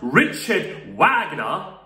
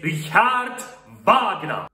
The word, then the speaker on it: Richard Wagner: myself clear it's not richard wagner it's richard wagner richard wagner because this guy came from germany and his name is